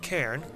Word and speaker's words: CERN: This was submitted by CERN, who tells me his name is actually pronounced Cairn.